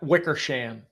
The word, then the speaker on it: Wickersham: us know your last name how do you pronounce it yes it's wickersham wickersham wickersham welcome to the show thank